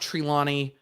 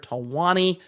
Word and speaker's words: Talwani: before us district judge tawani not trilani i'm always going to say it wrong in my brain because i am a nerd talwani in uh the second